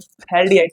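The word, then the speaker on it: phthalaldehyde: थैलडीहाइड पी से start होता है। पी साइलेंट रहता है।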